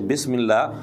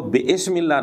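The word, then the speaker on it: بسم الله: لفظ درست نہیں ہے، کیونکہ یہاں حمزہ وصلی ہے اور درمیانے کلام میں حمزہ وصلی کو نہیں پڑھا جاتا، جیسے بسم اللہ۔ اب بسم اللہ کو بے اسم اللہ نہیں پڑھ سکتے، حمزہ وصلی کو درمیانے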